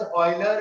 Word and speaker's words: Euler: अच्छा, now that as we know, अगर हम ऑयलर फॉर्म की बात करते हैं, please read this as ऑयलर एंड नॉट यूलर. That is the correct pronunciation of his name.